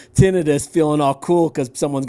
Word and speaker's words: tinnitus: wanted to know i googled how do you pronounce it and it even said it you know phonetically spelled it out t-i-n-n-u-h tonight tinnitus tinnitus okay yeah so you're right